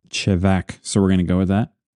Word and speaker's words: Chevak: I actually looked up how to pronounce these, and according to the internet, that is how you pronounce, especially Chevak, because my memory says it was different when I was there and they explained to me how to pronounce it. It's one of those things where they're really particular in how it's pronounced, and I just always got it wrong. But according to the internet, it is Chevak, so we're going to go with that.